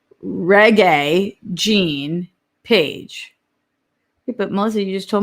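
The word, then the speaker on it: Regé-Jean Page: okay wait melissa says reggae gene page but mostly you just told me of the genre oh it's pronounced like the genre like reggae music oh melissa babe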